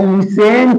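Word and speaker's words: listen: कि आई लिसन टू you song. मैं गाना सुनता हूं। तो बेटा सुनने के लिए हम बोलते हैं एल आई एस टी इ एन लिसन। लिसन मत बोल देना। टी साइलेंट होता है।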